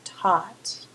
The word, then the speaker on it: taught: going to give two by for example changes to bot notice the pronunciation there bot teach changes to taught again notice the pronunciation there's no hard G Sound by bot teach taught